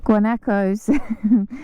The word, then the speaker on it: guanacos: share it with um I keep pronouncing the name wrong guac guano guanacos where we share the park with guacos and